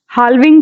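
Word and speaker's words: halving: then हाल्विंग बोल देना आप जो भी, ठीक है, इसका मतलब ये है, वैसे इसमें एल साइलेंट है, कि मतलब हाफ कर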